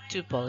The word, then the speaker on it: tuple: A record also called a tuple ya. Rhymes with couple is a set of